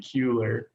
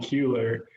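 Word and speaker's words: Keuler: a nickname my uh my name is spelled k-e-u-l-e-r so if you were to say it genetically it would be kuler so a lot of my friends will just call me keeler and i just i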